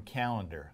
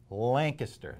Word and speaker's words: Lancaster: We're not from Calendar. Lancaster. That's how you pronounce it.